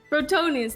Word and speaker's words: Brotonius: How do you say his name? Brodius? I forgot his name. Brotonius? Brotonius, thank you.